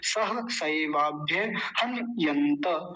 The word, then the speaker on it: सहसैवाभ्यहन्यन्त: आगे है हन, हन, न आधा है, मैं नीचे लिखता हूं, तो हन पर रुक जाएंगे ऐसे। हन, हलंत लगा दिया। हन यंत, यंत, त पूरा है तो पूरा बोलेंगे त। सह सैवाभ्य हन यंत।